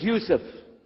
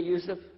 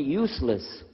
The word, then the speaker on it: Yousef: work on it inallah my name is Yousef can you say Yousef said Yousef you're very good I wish you'd teach my wife she keeps mispronouncing it she calls me useless alhamdulillah now how many